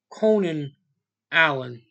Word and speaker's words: Konijn Eiland: to tell you that it's spelled not coming out it's Conan Allen that's how you said it's spelled k-o-n-i-j and Alan Conan Allen I was going to